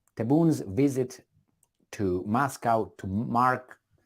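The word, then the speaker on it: Tebboune: Algeria I think that's why we you would pronounce his name taboon taboons visit to Moscow to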